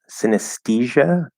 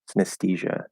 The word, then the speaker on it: synesthesia: um unknown says uh do you say synesthesia like t h or t syno like syno synesthesia synesthesia synesthesia synesthesia i've never heard it pronounced with a t that's that's odd to